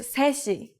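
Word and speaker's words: 세 시: say the hour first three o'clock is seshi say she the native Korean number three is set but we shouldn't need to say when we put it before our counter like C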